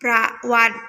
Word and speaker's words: ประวัติ: อา ออ วัตต์ มี ประวัติ อ่าน ว่า ประวัติ นะ คะ ต่อ ไป